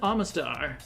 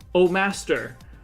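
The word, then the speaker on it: Omastar: month, that's Ammonite and Amistar. Yep. Or as some kid in my school pronounced it once, Oh Master. Oh, master. They were convinced that that's how you pronounced it.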